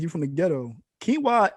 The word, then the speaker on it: quinoa: you from the ghetto quinoa the way it's spelled is not how it's said it's like yo your parents were high when they named you it smelled like kanoa or something like that yeah it is it's